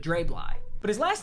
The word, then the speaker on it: Dre Bly: you guys were saying his name is pronounced dre bly not drably but dray bly but his last name